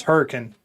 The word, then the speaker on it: Hurricane: I'm gonna say they probably call it Herkin. Yeah, actually, you're close. It's Hurricane.